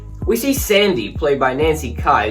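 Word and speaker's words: Nancy Kyes: see sandy played by nancy kai so i wrongly pronounced his nancy keys in my halloween 3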